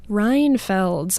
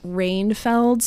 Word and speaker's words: Reinfeld: my last name though I don't think it's that hard to pronounce like Reinfeld I think it sounds exactly how it looks I could see someone saying like rain Feld's maybe yeah but sometimes I get